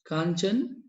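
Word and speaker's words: Kangchenjunga: So we call it as Kanchenjunga. Here D is silent. That is Kanchenjunga in Sikkim.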